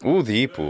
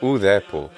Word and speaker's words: ουδήπου: Udipu or udepu, which would be the older pronunciation, meaning not at all, no way.